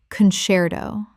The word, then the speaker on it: concerto: epithet epithet Word 131: concerto Common mispronunciation: concerto Correct pronunciation: concerto Three syllables. The C before E makes a CH sound in Italian, which English has kept.